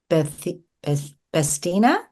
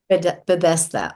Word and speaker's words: Bethesda: She previously served as the fitness director of the Columbia County Club in Bestina. How do you say it, Renee? Bethesda, Maryland. Mm-hmm. Bethesda.